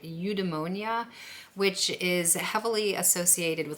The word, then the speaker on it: eudaimonia: Now, the good life is a mix between pleasure and leisure, and it's heavily connected to, I think I'm pronouncing this right, eudaimonia, which is heavily associated with like Greek philosophy and Aristotle, and I'm gonna explain what I mean here.